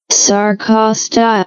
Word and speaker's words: sarcostyle: So a myofibril, also known as a muscle fibril, or sarcostyle, let's just see the pronunciation here. Sarcostyle.